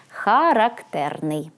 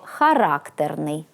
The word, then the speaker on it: характерний: характерний де ставити наголос коли наголос падає на другий склад тобто характерний то маємо прикметник зі значенням який має твердий вольовий характер упертий примхливий наприклад характерний чоловік Тиха але характерна дівчина характерний з наголосом на третьому складі - це властивий певній